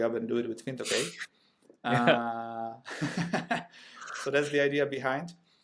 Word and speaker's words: Fintokei: Is it Fintokei? Is the correct way? Could be. We call it Fintokei, basically, just Okay. as it's written.